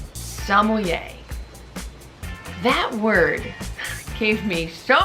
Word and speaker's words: sommelier: Just don't pronounce the R and you'll be way ahead of a lot of other people.